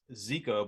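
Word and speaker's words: jika: rig it's a rattlin zika rig you guys aren't familiar with it it's um it's pronounced zika but it's spelled j-i-k-a and it's a technique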